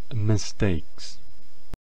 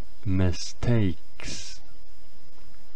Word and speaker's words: mistakes: palabra a utilizar sería mistakes, palabra en cuya pronunciación la A de en medio sonaría como EI. Mistakes.